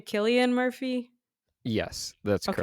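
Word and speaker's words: Cillian Murphy: Is his name Killian Murphy? Yes, that's Okay. correct. Okay, cuz I jack up everyone's names wrong. I You're mess like, up my own I name. can't see, is that Killian Murphy?"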